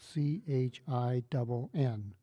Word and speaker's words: Chin: you an example all right my last name is spelled c h i n okay in in Chinese it's a specific word